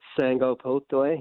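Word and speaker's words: Sagapolutele: His name is Carvey Sangopotle.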